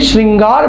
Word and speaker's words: श्रृंगार: है ठीक है और जब आप देखें श्रृंगार बोलते हैं तो 60 के साथ हा नहीं बल्कि री का प्रयोग री का प्रयोग